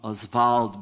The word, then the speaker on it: Oswald: Oswald to write this I'm I'm pronouncing Oswald because that's the way he pronounced the way his friends pronounced his family pronounced the name was taken from a French thing it's most people in Brazil now say all what our fault you know which is they would hate because they pronounced us vault and he sometimes Santos